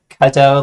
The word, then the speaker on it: Qodot: pronounce because if it Qodot versus Godot, it's like Cadeau like Quebec.